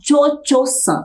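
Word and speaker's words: Cio-Cio: Butterfly é essa moça que se chama tchoo é assim que se pronuncia tcho que quer dizer Madame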